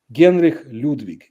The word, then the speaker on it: Genri Ludvik: was able to travel Genri Ludvik is the Russian pronunciation of his name.